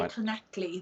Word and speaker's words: Llanelli: It's Lanelli. So most people say Llanelli. That's how most people manage to get the word out.